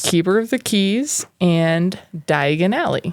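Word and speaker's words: Diagon Alley: of the keys and diagonale yes which sounds like diagonally but Di Aly wow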